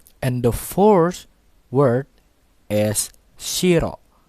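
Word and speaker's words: しろ: fourth word is Shiro so Shiro has two syllables the first syllable is she and the second syllable is raw so in the graphics in zero White you can see in the first syllable it has a high pitch and the second syllable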